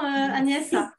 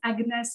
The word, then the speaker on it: Agnès: Et en fait, j'étais hébergée dans une famille et le prénom Agnès se prononce Agnès en Angleterre et je n'aimais pas du tout cette prononciation-là.